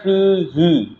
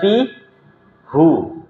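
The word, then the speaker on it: فيه: lahu gitu ya lahu kalau Fi bacanya fihi bukan Fi hu ya fihi dia di kasrah kalau la baru la hu dan ini sudah kaidah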